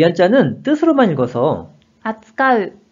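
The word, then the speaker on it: 扱う: 자, 이 한자는 뜻으로만 읽어서 扱う、扱う。 라고 발음을 합니다.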